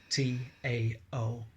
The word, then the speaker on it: Tao: Now, when I say source, I generally mean the Tao, T-A-O, but it's pronounced Tao.